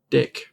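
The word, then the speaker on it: deque: there's another um type called deck it looks like dq that's pronounced deck it's basically a vector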